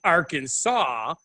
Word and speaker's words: Arkansas: However, if you don't pronounce the name of the state correctly, which is Arkansas, the S is silent at the end, you can be arrested.